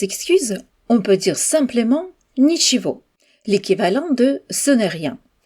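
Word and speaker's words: ничего: Pour répondre à des excuses, on peut dire simplement nhiivo, l'équivalent de ce n'est rien. Dans ce mot, on prononce le gu comme un V.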